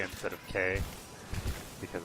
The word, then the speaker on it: que: Because if she's saying Quay instead of K, because it's spelled Q-U-E, I'm gonna be very amused.